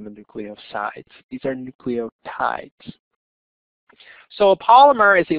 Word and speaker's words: nucleotides: the nucleotides are pronounced nucleotides is in tide like the laundry detergent right because there's also